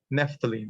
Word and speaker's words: naphthalene: The third element is naphthalene. Naphthalene. It's pronounced naphthalene.